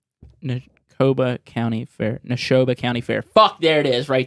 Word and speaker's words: Neshoba: wise we got the neko i can't even pronounce the dude nakobashani nekoba county fair neshoba county fair there it is